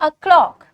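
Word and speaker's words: o'clock: और इसको प्रोनाउंस कैसे करेंगे? अ ओ नहीं ओ नहीं अ क्या बोलेंगे?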